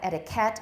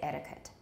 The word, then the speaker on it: etiquette: So here we have etiquette. I never heard that. I say etiquette. Etiquette. Okay, not etiquette either. It's a schwa, etiquette.